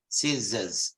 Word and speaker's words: scissors: scissors scissors scissors scissors there's a you see the O becomes a schwa the short sound scissors but it is preceded and followed by then scissors and the r is not pronounced Jesus Americans follow the